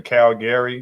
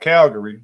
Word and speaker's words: Calgary: She lives in Calgary, not Calgary. Okay, I said it right, Lisa.